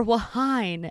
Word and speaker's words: Whine: Our segment called Whine and Cheese, or Whine and Cheese. The H is silent.